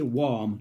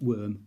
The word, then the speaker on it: worm: You've got to say warm, not worm. Warm.